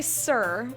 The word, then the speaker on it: syrup: gotta talk about syrup apparently some people say syrup i say sir as in like hello sir sir seer or syrup who the [ __